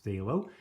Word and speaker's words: phthalo: phthalo blue today and despite the spelling the pronunciation is phthalo and it's a great